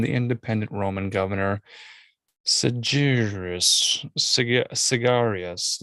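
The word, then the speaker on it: Syagrius: independent roman governor seducerous cigarious like it's not like a cigar it's pronounced s-y-a-g-r-i-u-s but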